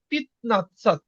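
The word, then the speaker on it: пятнадцать: নাতসা বা এটা হবে পিত নাসাত শুধু হবে কি এটাকে আমরা অনেক সময় বলি যে পিয়াদ উচ্চারণ হবে এটা হবে পিতনাসাত তারপরে কি হবে যেমন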